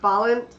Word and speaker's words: Balint: Oh wait, we got the pronunciation. You know what you say It's it. Balint Yeah, that's right. Balint.